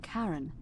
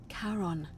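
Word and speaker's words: Charon: Oh, it's just as you described it, only your pronunciation is a little off. The name you heard wasn't Karen. It was C H. I knew it. O N. As in Karon, the fairyman of the dead.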